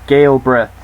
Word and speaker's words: Gilbreth: also sarah Gilbreth yes it's gail breath I've checked the pronounced for NC a shin